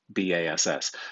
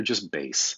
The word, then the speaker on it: bass: like baseball b-a-s-e but b-a-s-s so just careful not to pronounce this bass like you're about to go fishing but rather just base so that's the base